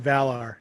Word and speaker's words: Valar: up and for those who don't know it's pronounced valar not i actually used to get corrected